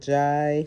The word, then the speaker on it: Jai: So then when I just took out the Jai part, pronounce it like Jai, like high. Sounds like I.